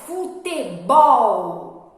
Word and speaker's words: futebol: E agora a palavrinha futebol. Olha, já até falei bol, que é a sílaba mais forte.